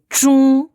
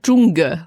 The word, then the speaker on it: 中: Le G est assez peu prononcé en fait. Hein. Surtout pas zhong. Voilà. Surtout pas. En fait, pour moi, il appuie sur la nasalité du son plus que le son G.